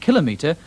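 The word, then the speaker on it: kilometre: the second syllable and conversely that controversy and kilometer are accented on the first syllable these words have no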